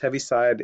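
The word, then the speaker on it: Heaviside: also called I think it's that have it's pronounced heavy side it was he was a mathematician electrical engineer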